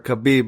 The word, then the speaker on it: Khabib: everybody like like like habib said or khabib my bad um yeah i said